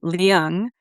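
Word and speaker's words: Leung: Muriel Lung, which I think she prefers to pronounce it Liang, she wrote a debut novel called How to Fall in Love in a Time of Unnameable Disaster.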